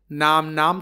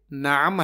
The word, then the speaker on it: نعم: کو سمجھ لیتے ہیں۔ ایک لفظ ہے نعم، اس کا درست تلفظ کرنا ضروری ہے، ورنہ بہت سارے عربی پڑھنے والے نام تلفظ کرتے ہیں، یہ نام نہیں بلکہ نعم ہے، عین کے ساتھ۔ نعم عربی میں یہ